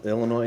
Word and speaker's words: Illinois: tiny town okay and you don't pronounce the yes right uh no I I do I don't know maybe some old folks it's French Travis it's Illinois I thought no but